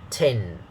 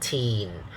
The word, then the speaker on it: tin: and then tin okay notice it's a short a sound not the long e sound okay not e but a the short one so we say 10 not teen so practice reading uh